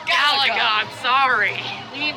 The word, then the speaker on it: Galaga: It's Galaga. It's pronounced Galaga.